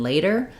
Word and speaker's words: later: vowel like in red and later has the a dip thong like in say or day um so to practice making the difference between letter and later I recommend using a